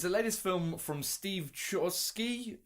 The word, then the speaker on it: Chbosky: latest film from Steve Shore ski Chbosky it's silent B who's the dude that